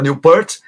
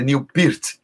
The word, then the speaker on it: Neil Peart: Antes a gente falava Neil Peart, agora a pronúncia certa é Neil Peart.